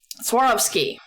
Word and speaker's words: Swarovski: A TikToker I watch was just posting that she got I can't pronounce it. What's the crystal company? Swarovski? Somebody help me. It's Swarovski.